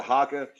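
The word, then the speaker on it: Jacó: It's spelled with a J. It's Jaaco. But it's said Jaca.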